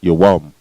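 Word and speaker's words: יום: And in the Hebrew it is pronounced yawam. All right, yawam. Yah, Wah, and Ma, yawam. Why and Ma are connected.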